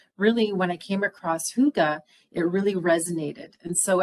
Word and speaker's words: hygge: A lot of people say, is it Hygge or Hygge? But really, it's considered to be very simple. It's Hygge. So Hygge is truly the proper way to say it.